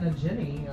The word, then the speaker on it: Nagini: got Nagini over there. The Ginny? Hard G, Wendy.